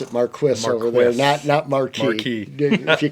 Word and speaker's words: Marquis: perfects and our Bugles and the Marquis we pronounce it Marquis if you call the company call it a